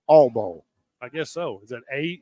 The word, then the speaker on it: Oil Bowl: This was never the Oil Bowl. It's the Oil Bowl. It's not even 2 full syllables. It's the All Bowl.